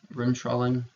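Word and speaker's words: Bremsstrahlung: brim strolling is the way that this is pronounced Rim trolling x-ray production electron from the cathode interacts with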